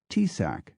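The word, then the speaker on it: Taoiseach: may need further work first oi is not pronounced oi in Gaelic T AO i a c is pronounced tsac second there is no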